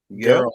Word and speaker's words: Geralt: Gerald.